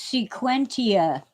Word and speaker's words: sequentia: Oh, it's sequentia. Sequentia. Um, some people might pronounce the vowels a little differently, but that's how I learned it.